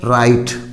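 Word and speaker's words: write: इसी तरह WR यहाँ भी है, राइट, लिखना।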